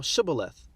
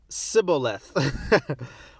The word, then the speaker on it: shibboleth: said they unto him say now shibboleth and he said siboleth for he could not frame to pronounce it right then they took him